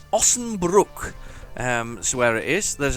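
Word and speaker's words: Osnabrück: So, I did learn how to pronounce it. It's Ossenbruck.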